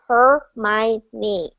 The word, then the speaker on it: Hermione: the first try because I'm a Shakespeare nut and her name is Shakespearean so I was like her my knee so you know it's